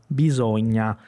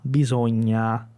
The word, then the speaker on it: bisogna: Então aqui eu tenho primeiro bisogna, bisogna. Esse a, bisogna, ele tem que roncar um pouquinho na garganta aqui, ó. Então não é o a simples, ele vai lá para trás.